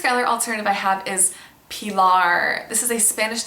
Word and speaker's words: Pilar: pronouncing it Eva, and I don't think it would be a stretch for someone to pronounce Pilar in the US as Pilar, which would be very similar to Skylar.